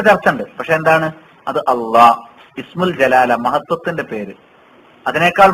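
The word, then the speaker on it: الله: അള്ളാഹ്, ഇസ്മുൽ ജലാല, മഹത്വത്തിന്റെ പേര്. അതിനേക്കാൾ മഹത്വമുള്ള ഒരു പേരിനെ അള്ളാഹ് പറയാനില്ല. അള്ളാഹ്, ആ ഉച്ചാരണം അവിടെ തന്നെ ഉള്ളു.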